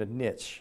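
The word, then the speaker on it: Nietzsche: fellow by the named a niche I think is name is pronounced it's Nei TZ s h e he's a philos philosopher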